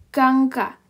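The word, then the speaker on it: 강가: Oke, nah kemudian yang ketiga itu adalah contohnya adalah gangka.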